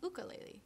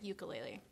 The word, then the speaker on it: ukulele: a ukulele but if you're in Hawaii it's pronounced buco lately technically but you hear a lot of people pronounce it ukulele so don't apologize but try and say it